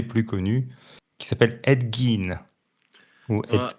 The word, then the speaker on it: Gein: Qui parlait notamment d'un tueur en série très connu, peut-être un des plus connus, qui s'appelle Ed Gein. Ou Ed Gein, ça s'écrit G-I-E-N.